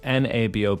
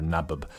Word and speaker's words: nabob: And Nab, Nab OB. Didn't know this term. I pronounced it Nab or something like that or Nabub. But it's a Nabob.